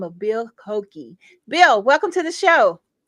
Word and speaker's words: Koenecke: uh all right yeah another way I pronounce my name is kaneki but that's okay I